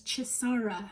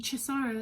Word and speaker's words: Chisara: i pronounce your name my name is so easy to pronounce chisara that's me not even giving you like the nigerian intonation you know what i mean chisara like it's not it's